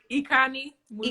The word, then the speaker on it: Ikanih-Musa: Ikanih-Musa. Ikanih. Yes. Musa. Got you. I'm so sorry. I have people say my name wrong, so I really do apologize.